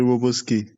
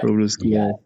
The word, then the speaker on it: Wroblewski: Okay, so first of all, I had difficulty pronouncing your other name. Not a problem. Is it Wroblewski? Yeah. Wroblewski.